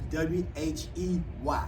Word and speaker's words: whey: So you want to say you have and that's W-H-E-Y. Right, W-H-E-Y. So these terms you may hear, you may not get W-H-E-Y. Whey, and it is pronounced whey protein.